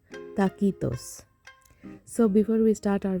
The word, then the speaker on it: taquitos: Mexican rolled up recipe in Mexico the pronunciation is takitos so before we start